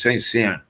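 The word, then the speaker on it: Saint-Saëns: But the orchestral version is, and in fact, it was written by, and I can't pronounce it, so it's Saint Saens.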